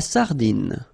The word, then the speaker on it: sardine: La sardine, you don't insist on the final E, it only gives you the N.